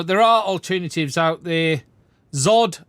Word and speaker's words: ZOHD: are alternatives out there Zod I think this is pronounced someone said earlier not zohd so what we got let